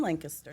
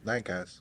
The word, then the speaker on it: Lancaster: Lancaster. So How would you spell that? Lankister. Oh, with the K.